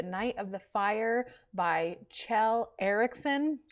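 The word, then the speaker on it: Kjell: of the fire by chell eriksen it's spelled differently but i looked it up and then it's chill but it's spelled k-j-e-l-l and this uh police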